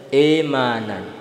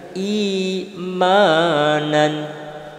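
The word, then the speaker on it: إيمانًا: Kasroh itu bacanya harus meringis, jangan sampai e. Yang terjadi pada umum di tengah-tengah masyarakat kita itu imanan. Yang betul adalah imanan.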